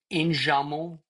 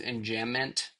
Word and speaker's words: enjambment: Enjamment is enjambment, but it's French.